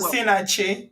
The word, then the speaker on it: Osinachi: Osinachi.